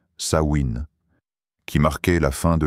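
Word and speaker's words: Samhain: Il célébrait à la fin du mois d'octobre une fête appelée Samhein prononcée Sain qui marquait la fin de l'été et le début de la saison sombre.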